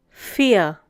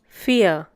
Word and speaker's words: vier: The next one is vier. Once again, vier. The pronunciation is similar to the English word fear.